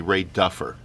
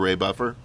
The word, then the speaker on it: Ray Buffer: He kept calling me Ray Duffer. And do you get why he was calling me Ray Duffer instead of Ray Buffer?